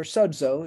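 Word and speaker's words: σῴζω: now Karina was judgment and Sozo or Sozo as it's pronounced so um the root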